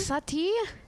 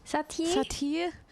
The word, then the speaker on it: Satie: I think Satie? Satie. So you just kind of like elongate the I.